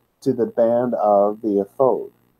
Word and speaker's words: ephod: Now, to pick up from where we left off, we're talking about the ephod, also called the ephod. Ephod, more properly, is the way to pronounce the word.